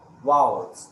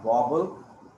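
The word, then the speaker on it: vowels: क्या pronunciation वाउल्स. This is नॉट वॉबल, this is वाउल्स. इसको आप वाउल्स ही pronounce करेंगे या वाउल आप उसको बोल सकते हैं.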